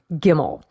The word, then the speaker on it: gimel: The third letter of the Phoenician alphabet was gimel, for the sound of the hard G as in gate, gimel.